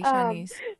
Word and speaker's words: Shanice: Y'all been saying my name wrong. But it's okay. It's I'm Shanice. sorry, Shanice. So I just wanted to